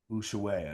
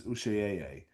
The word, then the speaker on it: Ushuaia: How would you pronounce that? USH UAIA. Ushuaia. Ushuaia. That's Ushuaia.